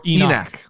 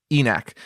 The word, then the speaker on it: ENIAC: any chance enoch or enac enac is how you pronounce it enact no it's it's based off of the first computer ever no how do you no spell it uh it's a e-n-i-a-c e-neck a lot of people